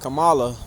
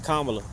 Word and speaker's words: Kamala: I don't mean to be disrespectful, but it's just, it's weird because I'm so used to calling her Kamala, but then, the pronunciation is Kamala.